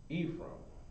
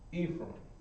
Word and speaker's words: Ephraim: number six is ephraim ephraim and no it's not spelled necessarily how it sounds ephraim okay so now ephraim